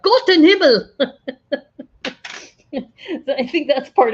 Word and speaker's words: Gott in Himmel: You got to say it right. Like Gott in Himmel.